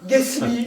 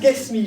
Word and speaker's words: Guesmi: Ghasmi, voilà, Ghasmi, j'ai bien prononcé.